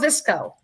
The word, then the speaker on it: Viczko: Cheryl Viczko, you'll remember that name, rhymes with Crisco.